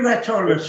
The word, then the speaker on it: Rathurles: Now that, to me, now my mind, the way it works, would I be right in the pronunciation of Brewton? That's right, yeah. They're Raturlis, would they? They're Raturlis. The family is still there.